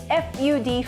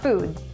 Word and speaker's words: FUD: FUD, FUD, not food, and use it in a sentence. I say it rhymes with mud, and no one has corrected me yet, so I'm gonna go with FUD.